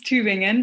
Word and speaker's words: Tübingen: You were almost right with the pronunciation. It's Tübingen, but close enough.